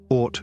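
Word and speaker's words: Oort: and the art cloud or rhymes with court because the objects we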